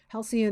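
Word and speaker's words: Halcion: had taken a halcyon halcyon is um i believe is how you pronounce it halcyon is a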